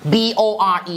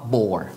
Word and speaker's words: bore: เสียง ให้ ถูก ก่อน b o r e ใน ภาษา อังกฤษ อ่าน ว่า bore bore มี R นิด เดียว bore bore ถ้า อ่าน ว่า บอ นั้น ยัง ไม่ ครบ บ่อ นี่ อีสาน เลย